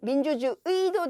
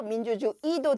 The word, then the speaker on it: 민주주의: 민주주의, 민주주의도 되고 민주주의도 된다.